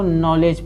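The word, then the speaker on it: knowledge: है देखिए एन से पहले इसको नीड पढ़ेंगे नीड नीड इसको नोक पढ़ेंगे के साइलेंट रहेगा इसे नाइफ पढ़ेंगे नाइफ इसको नॉलेज पढ़ेंगे के साइलेंट एन से पहले के आया साइलेंट होगा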